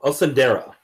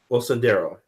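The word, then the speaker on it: Osundairo: Osundero. Osundero. I'm going to say that. Abel and Olabinho Osundero.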